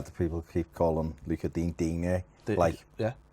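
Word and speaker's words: Lucas Digne: Why do people keep calling Luca Digne? Yeah. Darren Griffith says Digne, even though Luca's literally said his name's Dean.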